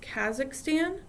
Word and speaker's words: Kazakhstan: at the end so the first one is pronounced Kazakhstan the second one is Kyrgyzstan there's Tajikistan Uzbekistan